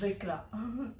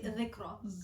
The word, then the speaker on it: Zikra: तो यार It's Zikra. Actually Zikra.